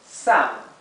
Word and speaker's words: Sam: Otra palabra parecida, que se pronuncia sutilmente diferente, es Sam, ¿sí?